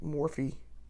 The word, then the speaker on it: Morphe: If not, I have the Morph going. And I've heard people pronounce that differently, like Morphe.